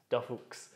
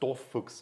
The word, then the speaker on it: DorFuchs: Actually, I like this pronunciation better than most Germans pronouncing the name. Yes! Because most Germans who are not from Saxony don't understand the Saxon accent, and they read it and they say like, Dorfuchs, but it's just Dorfuchs, so it's short O in the, so okay.